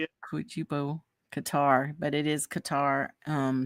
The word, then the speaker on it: Qatar: CUO a good tryo Qatar but it is Qatar um spelled q a t a r so